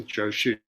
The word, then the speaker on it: Joshu: Joshu is the Japanese pronunciation. He's also called at various places Chow Chow or Zhao Zhao. And I'm quite sure that no matter which pronunciation we use, it's wrong.